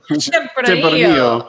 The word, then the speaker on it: Tempranillo: Tempranillo. Tempranillo.